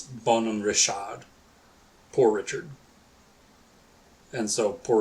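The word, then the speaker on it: Bonhomme Richard: So in in French it's Bon Rashad poor Richard and so poor Richard's almanac.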